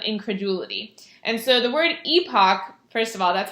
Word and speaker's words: epoch: the epoch of incredulity and so the word epoch first of all that's how you pronounce it so make sure you pronounce it